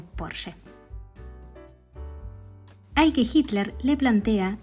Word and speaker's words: Porsche: En esa misma feria se encontraba el ingeniero Ferdinand Porsche, que en realidad se pronuncia pero vamos a decirle Porsche.